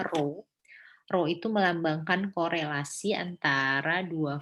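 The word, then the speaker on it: rho: data sample niatnya dari data sampel kemudian ini bacanya ro-ro itu melambangkan korelasi antara dua variabel yang didapat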